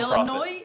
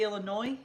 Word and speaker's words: Illinois: Illinois?